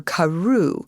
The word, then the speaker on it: Crewe: difference in the name Madame Pascal pronounced it as if it were Karu instead of crew but that might be merely a matter of pronunciation the circumstances were curiously